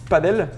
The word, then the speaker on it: Padel: to fly it's like my name is French it's padel and the pronunciation it's the same like uh no wings you know in France padel it's no wings and um when uh